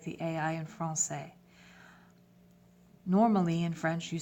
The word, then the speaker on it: français: So français, if we write français, F-R-A-N-C-A-I-S, sans accent, without any accents, you would pronounce it franquais. Just by adding the accent, you change it from franquais to français, comme ça.